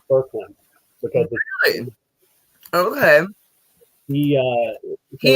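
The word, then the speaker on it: Boecklin: Yeah, well, it's spelled Vokeland, but I found out that it's pronounced Berkland.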